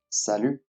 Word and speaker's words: salut: Salut. Once again, salut. This is the most common form of greetings in France. Notice that we do not pronounce the last letter, the letter T.